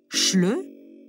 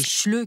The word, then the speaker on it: Schleu: D'où vient ce mot dont la prononciation avec le son ch rappelle certaines caractéristiques de la langue allemande?